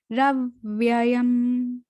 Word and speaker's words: प्राहुरव्ययम: अश्वत्थम प्राहुरव्ययम, प्राहुरव्ययम, यहाँ पर र के ऊपर आघात आया आधे वाक का, तो रव्ययम, आपको सुनाई दे रहा होगा रव व्ययम, ऐसा लगेगा कि 2 बार अधवा आया है ना।